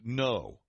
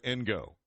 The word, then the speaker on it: Ngo: corrected me saying that his name is actually pronounced No instead of Ngo. It's NGO. And so I pronounced it Ngo. James pronounces it No.